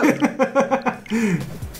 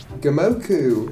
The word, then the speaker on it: Gomoku: Goku. Gomoku. She said it wrong. Gomoku.